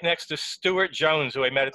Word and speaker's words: Stuart: Yeah, you've got to pronounce the U's, but not the R's.